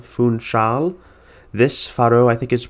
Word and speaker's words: Funchal: Thank you to the person in the comments who highlighted that for me, but it's Funchal, not Funcal or Funchal, Funchal.